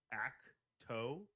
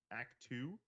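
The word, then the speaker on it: Ahch-To: It's called Acto. Actu. I think it's Spelled act. ACH-TO. Yeah, I don't even remember hearing it. It sounds like a sneeze.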